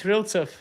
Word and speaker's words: Ryltsev: Ryltsev? Yeah, it's Ryltsev.